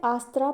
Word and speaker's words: अस्तर: रहा होता है और अभी इसका नाम अस्तर है बट मैं इसे आस्त्र प्रोनाउंस कर रही हूं जो अभी जो निस्का